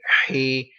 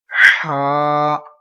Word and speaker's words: Ha: So don't pronounce, some people pronounce like Hey, Hey, Hey. So you can't pronounce like this. We will pronounce in Arabic accent. Ha, and with this voice.